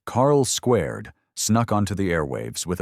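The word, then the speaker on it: Carl²: Before clones were cool and identity crisis became sitcom staples, Carl 2 pronounced Carl Squared snuck onto the airwaves with a premise eerily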